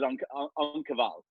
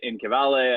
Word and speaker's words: En Cavale: I think people can say what they want, but it is on Cavale. On Cavale. Yeah. As opposed to, you know, I get in Cavale, I get on Cavale.